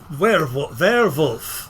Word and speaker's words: Werwlf: So Werewolf. Yeah, or something like that. It's spelled WERWLF. Yep, or ULF. Yeah, or I said ULF. I heard WLF. Like we're wolf.